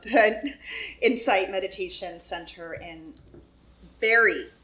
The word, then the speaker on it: Barre: founder co-founder of hood Insight Meditation Center in Barry it's not hard spelled bar but pronounced Barre Massachusetts she also co-founded the very center for